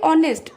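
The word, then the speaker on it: honest: कले कहीं ना एटा वावेल साउंड आसला सेमती ऑनेस्ट एच ओ एन ई एस टी उच्चारण कले कोन आसुची ना ऑनेस्ट अ आसुची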